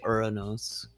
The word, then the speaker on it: Uranus: forming between Mars and Uranus or Uranus um either pronunce you could say uros you know that's probably more correct than uranos but I say uranos